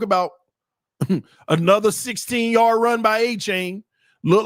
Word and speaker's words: Achane: His name is pronounced A-Chain. Okay. A-Chain.